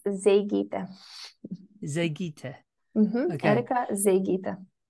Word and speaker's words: Zeigyte: I mean, I was pretty sure you're going to pronounce it this way. Yeah, it's Zeigyte. Zeigyte.